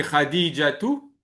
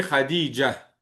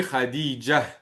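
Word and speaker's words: خديجة: Vous voyez ici, lorsqu'on a un ta marbouta comme ici, à la fin, on le prononce pas lorsqu'on s'arrête.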